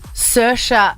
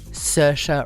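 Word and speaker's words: Saoirse: I'm about to talk about an actress called sersha Ronin you would know her name because nobody ever knows how to pronounce it it's an Irish name that is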